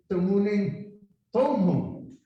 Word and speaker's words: Tamuning: that this be Tamuning, it wouldn't be Tamuning Tuman, it would be Tamuning Tomhum, because that's the original Chamorro pronunciation.